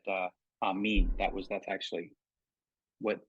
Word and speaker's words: amen: that that is an Aramaic but it's not pronounced amen it's pronounced am me you notice at the end of the the prayer that I spoke for you uh I said uh am mean that was that's actually what what the word